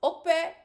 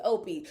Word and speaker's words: Opie: and y'all told me it was pronounced Ope, like O-K-P-E, but he said his name is Opie.